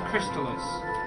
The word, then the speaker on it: Crystalis: It is pronounced Crystalis.